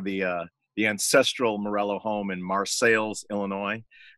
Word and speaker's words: Marseilles: But that's just me in front of the ancestral Morello home in Marseilles, Illinois, spelled like Marseille, France, pronounced Marseilles because it's in central Illinois.